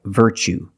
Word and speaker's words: virtue: You see TUE as the second syllable. So the T is pronounced ch, like chicken. So what's the pronunciation? That's right, virtue.